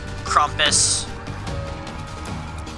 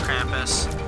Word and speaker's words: Krampus: Krumpus. actually pronounced Krampus.